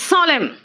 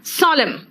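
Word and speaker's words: solemn: ठीक है ठीक है एन कहां कहा साइलेंट है देखो तो इट्स सोलम एन है लेकिन मैंने क्या कहा सोलम ऑटम हेम मंत्र को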